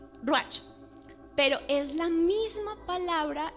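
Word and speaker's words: רוּחַ: Hay algo muy precioso y es de que la palabra viento en hebreo que es usada ahí es ruach, o saber cómo se pronuncia, ruach.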